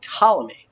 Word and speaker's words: Ptolemy: geocentric system was this guy and you can pronounce that Ptolemy if you have our joint so you don't